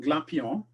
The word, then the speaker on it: Glapion: That's because he's French, I guess, and in French, the N wouldn't sound anyway if you pronounce it.